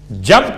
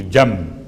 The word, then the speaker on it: جنب: اور بھی، وَجَنبِهِ الْعَلِي، جنب کسے کہتے ہیں؟ جیم نون بے، چونکہ تجوید کے قاعدے کے لحاظ سے آپ کو تلفظ میں میم کی آواز محسوس ہوگی، جنب، حالانکہ جنب ہے۔ اس کا ترجمہ کیا ہے؟